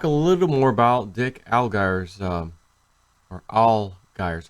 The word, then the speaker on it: Allgire: All right, so I want to talk a little more about Dick Allgire's or Allgire's how you actually pronounce it, not Al, it's Allgire.